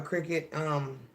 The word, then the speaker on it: Cricut: explorers or something well I'm saying it wrong like wicket Cricut explore air or all